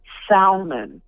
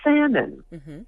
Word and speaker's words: salmon: of people pronounce that Salman and I'm thinking come on now this was this was basic vocabulary you pronounce it salmon the L is silent it's like subtle some